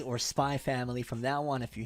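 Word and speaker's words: SPY×FAMILY: gonna pronounce it as spy family because most people said it's like hunter hunter where the x is silent it's not hunter x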